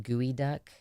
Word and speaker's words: geoduck: sushi places around Portland it's pronounced gooey duck it's spelled geoduck is that not what